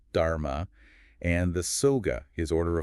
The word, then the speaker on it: dharma: That's his teaching pronounced dharma.